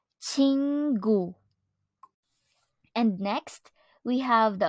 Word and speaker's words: 친구: object noun friend or in Korean it is pronounced as chingu chingu and next we have the object noun friend